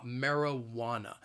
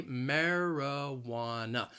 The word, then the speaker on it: marijuana: it's it's called marijuana the word has four syllables and the stress is on that third syllable it that wa marijuana so say this word with me i'll say it slowly marijuana that second and fourth syllable you hear that schwa that uh marijuana so keep in mind that the spelling is nothing like the pronunciation that third syllable that wah that is the stress marijuana marijuana it's marijuana